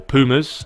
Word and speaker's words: Puma: balance as well as Pumas or Pumas as the Americans say my girlfriend always gives me stick for it cuz I say pummer and she's always like you mean Pumas no I mean pummer love that's what I mean there's the Kings they